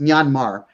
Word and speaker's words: Myanmar: know this the the country of myanmar it's pronounced myanmar formerly burma they the buddhists and the hindus